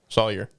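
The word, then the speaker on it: Salyer: his last name slaver slaver slayer is it slayer or a slaver is it i think it's slayer slaugher slaughter saul sawyer sawyer s-a-l-y-e-r sawyer okay we are we are incredible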